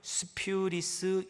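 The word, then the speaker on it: σπυρίς: 헬라우로는 스퓨리스 이렇게 발음을 합니다.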